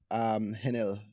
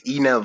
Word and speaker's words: Henel: It's Enel. So the H is Enel silent. Yeah. Sorry, the H is silent.